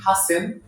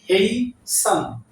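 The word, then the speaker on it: hasten: এটাকে আমরা উচ্চারণ করি হাসেন, সো এক্সাক্ট উচ্চারণ হচ্ছে হেইসেন।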